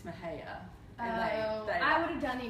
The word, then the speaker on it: Mexia: I was standing in a group of Texans and pronounced Mexia, Mexia, and they just, it's Mahia.